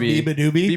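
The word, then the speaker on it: beabadoobee: That's how it's pronounced, Biba Doobie.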